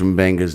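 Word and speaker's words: M'Benga: His name is literally pronounced Mbenga.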